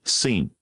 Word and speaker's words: scene: Neither. You need to pronounce all of them. the nether you say scene. The C is just how you spell the S sound there.